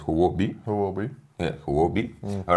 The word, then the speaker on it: Huobi: Actually, in Chinese you pronounce it as Huobi.